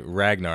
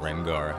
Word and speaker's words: Ragnar: kind of wolf okay Ragnar I think I was saying his name wrong before I think I was calling with rengar I haven't been playing